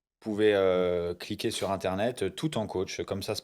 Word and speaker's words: Tout en Coach: Euh bah c'est très simple, on vous pouvez cliquer sur internet tout en coach comme ça se prononce.